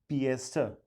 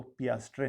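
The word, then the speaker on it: piastre: और पैसे उनके हैं पिएस्टर, याद रखिएगा उसको, पियास्ट्रे नहीं बोलिएगा, पिएस्टर। ठीक है, पिएस्टर उसकी प्रोनाउंसिएशन सही है।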